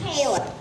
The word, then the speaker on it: Palin: balance on your pH name payment actually it's pronounced Palin Sarah Palin well Mrs plain oh whatever about